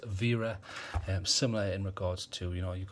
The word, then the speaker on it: Wera: Yes, I realise it says it's got a W there, but it's German, so I'll pronounce it how they would. So it's Wera, similar in regards to, you've got some people say Weha, it's Vha.